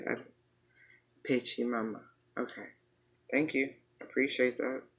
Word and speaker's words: Pachamama: Pachamama.